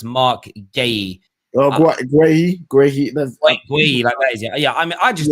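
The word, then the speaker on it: Marc Guéhi: this guy here mark a few people in the comments to tell me he's pronounced mark gaye yeah i mean i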